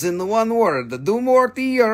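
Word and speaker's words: Dumortierite: It's do more to your right, not to your left. Do less to your left. Do less to your left and do more to your right, and then you will never forget how to say it.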